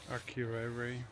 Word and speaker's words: Akureyri: How do you pronounce it, John? Akureyri.